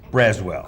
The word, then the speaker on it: Braswell: Braswell. Correct, yes sir. I'm not great with pronouncing names. Braswell, and you're with the Statewide Insurers Group.